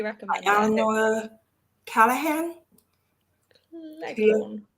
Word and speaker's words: Cleghorn: Leghorn. How do you say that? Cleghorn? Cleghorn, Eleanor yeah.